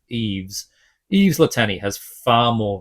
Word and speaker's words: Yves: It's spelled Y-V-E-S. So I'm going to go with Yves.